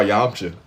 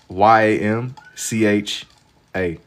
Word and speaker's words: Yamcha: Um, draw Yamcha.